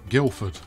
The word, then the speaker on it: Guildford: Yes, Guildford. It's pronounced. The D is. It's not silent so much as just everybody skips it.